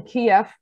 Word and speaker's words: Kiev: ukraine a week in kiev that's the russian pronunciation with local university students